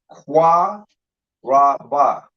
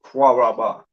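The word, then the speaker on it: קָרַב: So when you connect it, you lose the A. You don't pronounce it Qua Ra Ba.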